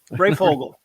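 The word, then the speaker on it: Breyfogle: Brayfogle.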